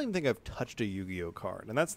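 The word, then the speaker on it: Yu-Gi-Oh!: mine for some time at least you can pronounce it correctly yugioh you know some people will go ugo yeah well you there's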